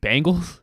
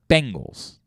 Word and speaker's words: Bengals: And I say, wait, Bengals? It's not Bengals. Bengals. Ben, like Ben Roethlisberger. Goals. Bengals.